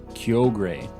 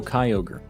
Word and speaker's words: Kyogre: half odds yet um I always thought it was pronounced Kyogre yo gray g-r-e gray so Kyogre is it please in